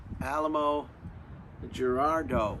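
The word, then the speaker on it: Alamogordo: tested in New Mexico in a place called Alamo Gerardo. Alamo Gerardo? Does that sound familiar to anybody from New Mexico? Alamo Gerardo.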